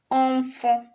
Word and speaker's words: enfant: In Spanish, I'm sure they pronounce every single letter, but in French, you write them, but you don't pronounce.